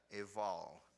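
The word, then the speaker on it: Ebal: The reference is 27:13, and it is, Eval. You pronounce it with a V sound.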